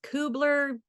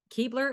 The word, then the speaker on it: Kuebler: And so I had to ask you before the interview because like it looks like it could be pronounced Kubler, Kubler, Keebler. So the world should know it. Keebler is how you say it.